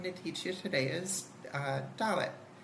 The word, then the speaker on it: Dalet: So the first letter I'm going to teach you today is Dalet. It is pronounced as a D, as in dog.